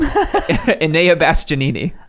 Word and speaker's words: Enea Bastianini: Enea Bastianini.